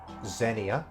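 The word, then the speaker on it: Xenia: to you nano jose, the woman with the name pronounced or said like Zenia, so the woman called Zenia basically, ni wa kiyotsukerunda, take care.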